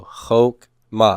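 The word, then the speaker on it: חָכְמָה: come at Coutu okay it's a short Oh Hoch MA and therefore the Shiva is silent Hoch ma so wisdom and wisdom is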